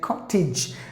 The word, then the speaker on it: cottage: Here, any word ends with the letter E, it is silent. And then AGE ending, you have to pronounce it not with a long sound, with a short sound. Ij. So you have to say cottage. One of the T's is silent.